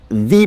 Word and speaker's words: the: Notice how I pronounce the article? Normally, you would only pronounce it in that way if the following noun starts with a vowel. Still, you can emphasize that noun in that way even if it doesn't.